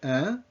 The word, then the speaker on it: hein: So that last word, hein, it's like in English, huh? It's a fine wine, huh? As in, isn't it?